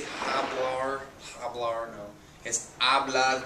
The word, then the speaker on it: hablar: It's hablar, the H is silent.